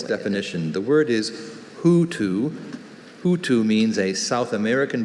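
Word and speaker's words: houtou: Hutu, are there any alternate pronunciations? Only Hutu. Hutu?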